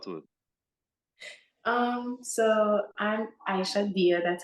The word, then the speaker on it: Aïcha Dia: are you talk to it um so I'm Aisha dear that's how you pronounce it first of all um so both